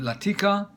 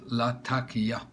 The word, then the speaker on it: Latakia: very rare Syrian Latakia I used to call it Latika and someone has corrected me saying nope it's spelled Latakia as it's spelt la